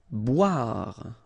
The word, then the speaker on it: boire: Boire. Okay, remember OI, wa, bois, boire.